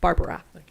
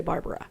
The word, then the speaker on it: Barbara: name again barb newhouse barbara but only if you can say it with three syllables can you say barbara otherwise it's barb any other questions miss